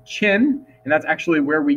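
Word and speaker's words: Qin: important one too uh q i n pronounced chin and that's actually where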